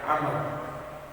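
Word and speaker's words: عمرو: Kalau dalam bahasa Arab huruf Ain, Mim, dan Ra dibaca Umar. Kalau ditambah huruf Waw setelah huruf Ra maka dibaca Amr. Nah, ini sering kadang keliru bacanya. Jadi kalau ada huruf Waw setelah Ra-nya dibaca Amr. Kalau tidak ada dibaca Umar.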